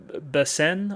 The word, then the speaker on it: Basen: From there, we get taken to my good friend Basen, I guess you would say, is how you would say his name.